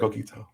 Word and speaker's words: coquito: i hope you guys enjoy your daughter's birthday cold keto so i said it right coquito i said it right i did good i'll